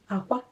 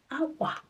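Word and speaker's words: akwa: Aqua is going down. Aqua means egg. Aqua is going up. Aqua means clothes.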